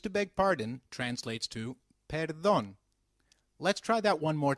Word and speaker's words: perdón: me when used to beg pardon translates to para dong let's try that one more time perdón very good however for seeking someone's attention excuse